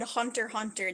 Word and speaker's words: Hunter x Hunter: up I heard them say it they said Hunter hunter they didn't say the X but the X